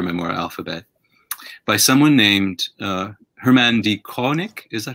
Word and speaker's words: Herman D. Koenig: your book, your memoir, Alphabet, by someone named Herman D. Koenig. Is that how you pronounce his name?